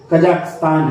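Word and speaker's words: Kazakhstan: board क्र इन कजाकिस्तान spelling देखिएगा कजाक के ए ज के एच एसटी कजाकिस्तान उच्चारण हम लोग कर ते कजाकिस्तान है ओवर 30 डेज डेट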